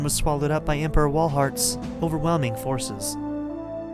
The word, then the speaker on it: Walhart: I was there as Roseanne was swallowed up by Emperor Walhart's overwhelming forces. This might also be a German pronunciation, which could be Valhart. So it's either Walhart or Valhart.